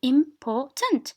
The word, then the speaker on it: important: the stress important okay so important so 1 2 أنت هيليك أنت important 1 2 so 2 is stressed the second syllable is stressed okay so no matter